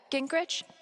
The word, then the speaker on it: Gingrich: Steph, Gingrich? Is that how you say it? Yeah, that's right.